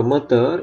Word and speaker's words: moteur: Jadi di sini de huruf terakhir tidak dibunyikan, lieu, tapi kalau moteur itu r-nya dibunyikan.